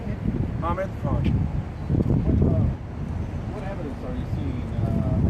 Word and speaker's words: Hamid Khan: Have your name again and spell it. It's H-A-M-I-D, and last name is K-H-A-N. How do you say it? Hamid Khan.